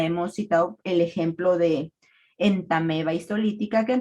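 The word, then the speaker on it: Entamoeba: citado El ejemplo de entameba histolytica que en realidad se escribe en tamoeba pero se pronuncia en tameba así muchos más que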